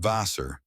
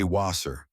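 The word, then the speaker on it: Wasser: Nine liechin not vaser. Say waser. The w is soft like a v again.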